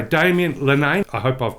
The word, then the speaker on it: Damien Linnane: kettle to boil but uh shall I say Daman lenain I hope I've pronounced your surname right Daman welcome to the